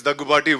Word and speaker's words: Daggubati: I pronounced it correctly or not? Finally, after 13 years, they got my name right. It's Daggubati.